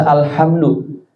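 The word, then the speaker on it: الحمد: Ini teman baca alhamdu harus kan alhamdu pakai ha. Alhamdu dia baca alhamdu pakai ha bukan ha. Yang harusnya alhamdu segala puji dibaca alhamdu artinya kecacatan untuk Allah.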